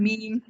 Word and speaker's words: meme: in some way so the way it's pronounced is kind of like that yes it's kind of like uh it goes like towards the way you pronounce the word gene like gene and then mean it's kind of